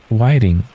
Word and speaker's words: whiting: Whiting. It's whiting. Okay, I kind of figured because white it's very close to being the the whole worth of white, but whiting.